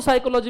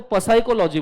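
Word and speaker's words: psychology: Let's take example, इसको क्या बोलते हैं, काय को साइकोलॉजी, मेरे को पसाइकोलॉजी बोलना है, पी क्यों साइलेंट है, उसको लाउड करो, प साइकोलॉजी। किसने बोला पी साइलेंट है, कि कौन है, कौन जिसने पी साइलेंट किया इसमें, नॉलेज, मेरे लिए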